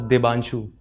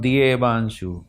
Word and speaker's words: Debansho: Sir, it is pronunciated as Dibanshu. Dibanshu, not D A Banshu.